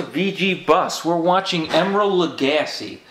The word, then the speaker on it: Lagasse: We're watching Emeril Lagasse. Oops, I said his name wrong. No, you said it correctly. It is Lagasse.